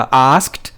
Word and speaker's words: asked: इसी तरह आस्क्ड, वो भी आस्क्ड नहीं होता, आस्क्ड ASKED, और इसको भी हम टी की साउंड के साथ पढ़ेंगे।